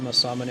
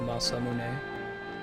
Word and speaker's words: Masamune: I mispronounced Masamune as Masamune when I was a kid, especially in like Chrono Trigger. That's my natural reaction to how to pronounce it. I think it's, since it's Japanese, you just pronounce every syllable, Masamune.